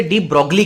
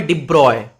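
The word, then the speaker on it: de Broglie: Children, इसकी जो spelling है वो BROGLIE, तो बच्चे इसे डी ब्रॉगली कहते हैं, पर ये डी ब्रॉगली नहीं है। इस साइंटिस्ट का नाम है डी ब्रॉय। इसका प्रोनाउंसिएशन थोड़ा अजीब है।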